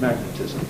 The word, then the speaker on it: magnetism: this principle wins out the t is attracted into the is syllable which is more strongly stressed and therefore it's initial and aspirated magnetism certainly the way I say it all right now we've